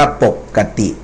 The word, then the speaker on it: ปกติ: อ่า ต่อ ไป เอ่อ ปก กะ ติ ไม่ ได้ อ่าน ปกติ นะ ครับ อ่าน ว่า ปกติ อ่า ต่อ ไป เอ่อ